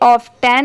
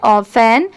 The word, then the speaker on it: often: इसकी प्रोनाउंसिएशन है ऑफन.